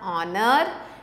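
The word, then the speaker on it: honour: आर so more examples are ऑनर and honest तो दोनों में भी एच नहीं बोलना है एच इज साइलेंट इसलिए जैसा साउंड है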